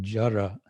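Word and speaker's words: জড়: would normally be transcribed as retroflex da, that is to say a D with a dot under it. So it would be jara. It's kind of halfway between a D and an R.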